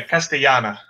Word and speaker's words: Castellana: difference between Catalina and castellana are substantial I hear two different syllables that are different all right stay Jana because it's Double L yes so it's completely